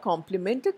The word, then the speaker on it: complimented: students on their performance it sounds okay because the word complemented there sounds exactly like the other complemented the word that should be really used in that context and that word is different from this complemented only in spelling there are two different